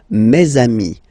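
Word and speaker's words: mes amis: And then let's be purist and make this beautiful le between these two words. Meami.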